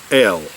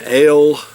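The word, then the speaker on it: hell: and everything goes, an L, H-E-double-L, L is what they call it. I believe is what the way it's pronounced in German is pronounced L. H-E-double-L is pronounced L, and that's basically a lighter colored beer.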